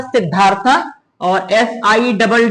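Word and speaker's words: Siddhartha: क्या था सिधा साधु सिद्धार्था या सिद्धार्थ सिद्धार्थ उसने बट जो स्पेलिंग होगी वो होगी एस I double D एच ए आर टी एच ए यही करेक्ट होगा य इसको पढ़ेंगे सिद्धार्थ जैसे लिखते थे पहले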